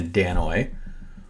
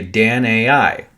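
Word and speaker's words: Danaoi: And if you understand that their languages would have been pronounced different, we look at Danoi and say Danoi, but what they look at is say Dan-ai.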